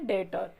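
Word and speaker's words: debtor: दिया तो उसको बोलेंगे डेटर डेट और बोलते हैं इसको 20 साइलेंट होता है तो डीटर बोलेंगे फिर इसके बाद फिर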